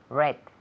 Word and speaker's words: read: to read read now what is the past simple of to read LCA red red red so every